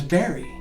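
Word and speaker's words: Barre: hugee l-e-g-a-r-e is Legree b-a-r-r-e is very you might also need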